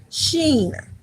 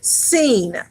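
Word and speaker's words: shin: We have the sheen. All right, which also can be pronounced without the H sound in it, without the sh. All right, but it can be pronounced just with the S sound, which is seen.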